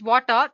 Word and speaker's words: Watir: WATIR, basically, it's pronounced as Water, is an open source testing tool made up of Ruby libraries to automate web application testing.